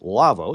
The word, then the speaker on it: Lawo: to you in part by the folks at lavoo lawo pronounced lavvo it's German audio console manufacturer and lavoo has